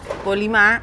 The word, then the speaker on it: Polimá: Polimá, acento en la A.